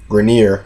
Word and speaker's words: Grenier: Grenier, I believe that's how he pronounced his name.